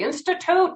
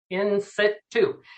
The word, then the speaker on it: in situ: go to the bank they cannot pronounce it they say institute and i'm like no in situ so what in situ